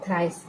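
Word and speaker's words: thrice: प साइट सभी में य ई साइलेंट है ा ्र मतलब कोई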